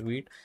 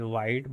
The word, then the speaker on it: Vite: this tool called wheat now I understand it is viit and you want to pronounce it as white but why it is wheat we can see as simple as that it is French word called wheat which means far so that's what they